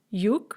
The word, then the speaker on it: юг: Yug is south, and notice that we spell it with a g, you-g, but when we pronounce it in the nominative, it's just yug. It sounds like a ka.